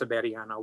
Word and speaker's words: Severiano: It's pronounced Severiano, which uses a V.